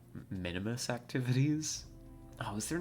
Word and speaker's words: Minmus: I could have sworn there was an I there. Like, Minimus. It's just how you pronounce it, right? Not Minmus. Well, apparently I'm just wrong.